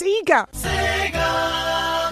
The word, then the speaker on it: Sega: been schooled yeah and it's pronounced sega well there we go